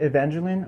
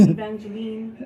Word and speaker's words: Evangeline: racer horse race place oh really do you pronounce it evangelin or did I pronounce it wrong evangelin oh okay I I I I I accidented the e well some people go Evangeline right I don't know I like that because